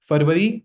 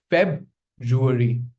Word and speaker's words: February: It's not Fervari, it's February. Or you could also say February like we say January.